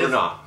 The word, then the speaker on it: Br'nah: It's Br'nah.